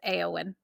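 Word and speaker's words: Éowyn: people pronounced like that but it is actually pronounced aeon yeah because I've heard like different pronunciations for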